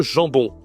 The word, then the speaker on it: jambon: Le jambon. Toujours la nasale. Il y a deux nasales même en jambon.